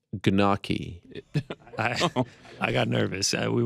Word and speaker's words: gnocchi: number two wow by the way it's actually pronounced gnocchi i got nervous uh we went over that before the show i just got nervous again is it really koganaki no i i messed that up my bad